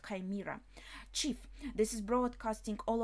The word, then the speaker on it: chimera: in English chimera chimera okay in English it's pronounced chimera chief this is broadcasting all over Elbuff at the moment they are exposing themselves hunter village Northwest region.